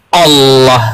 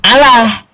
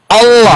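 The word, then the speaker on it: الله: Apabila diawali dengan fathah atau dhammah, maka dia tafkhim Allah gitu pengucapannya. Bukan Allah. Itu memang pengucapan orang Arab sananya, aslinya Allah.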